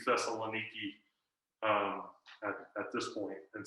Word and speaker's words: Thessaloniki: so modern greek uh the pronunciation of several different vowels has shifted over you know the past two thousand years um and so uh our best guess at how things were pronounced around paul's time would be that would be thessalonica but it has shifted to thessaloniki um at this point